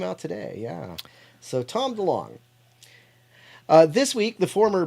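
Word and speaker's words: DeLonge: the birth of jesus i'm sorry did i say de long i mispronounced tom tom delong sorry um tom delong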